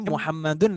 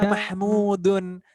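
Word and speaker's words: محمد: Kalau tulisannya seperti ini Ini bacanya muhammaden nih weh Moha Jangan dibaca mahmudun kalau Mahmud itu tulisannya berbeda minimnya pedal Hai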